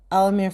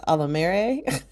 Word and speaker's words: Alamere: So like Alamere Falls, which I didn't know that's how you're supposed to pronounce it. I always call it Alamere.